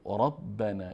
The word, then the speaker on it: ربنا: نا مع القوم الظالمین قال ربنا اینجا ب مشدد هست دو ب تلفظ میشه اینجا جیم ساکن هست